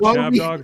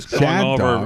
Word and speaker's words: Chab Dog: Chad, it's not Chad Dog. All of our listeners are retarded. It's Chab Dog.